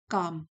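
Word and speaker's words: calm: L silent है काम।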